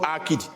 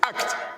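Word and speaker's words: عقد: It's not akid. It's not akid. All those things that Yorubas pronounce. It is act.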